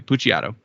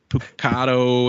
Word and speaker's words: Puciato: Puciato. The Italian pronunciation, unless I kept seeing like Puciato and Pucato, and it's just like way wrong.